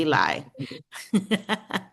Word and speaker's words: Eli: Ellie. How do you say your name? Ellie. Ellie. Okay. See, in the US it would be Eli.